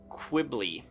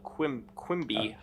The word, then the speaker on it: Quimby: by sawmill owner Sewell Quibby. There's no L. Quimby.